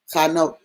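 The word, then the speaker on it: חנוך: I was actually pronounced Chanok, dedicated, okay, is what the term Chanok or Enoch means.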